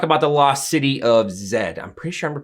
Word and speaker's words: Z: the lost city of zed i'm pretty sure i'm pronouncing that right i know it's just a z but in the film they say zed and i've heard people